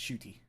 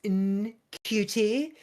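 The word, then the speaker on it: Ncuti: I'm pretty sure it's Shuti. I want to say I saw an interview where he kept saying his own name wrong, and then his mom called him out. He's like, "It's Nkuti," and my mother was like, "Why do you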